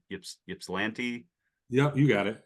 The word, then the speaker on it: Ypsilanti: Ypsilanti, Yep, you got it.